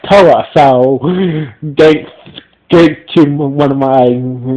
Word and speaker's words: Towa: Turns out his name's not Tal. Actually, it's pronounced Toa.